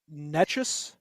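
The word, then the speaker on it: Nečas: Oh yeah, no, it's Netchus. I think it was Netchus, right? Netchus, It was yeah.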